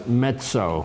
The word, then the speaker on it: mezzo: is a neutered male his name is mezzo m e ZZ o like the music that's metso metso i have to pronounce